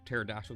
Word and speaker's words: pterodactyl: Why can't you hear pterodactyl go to the bathroom? Because his P is silent.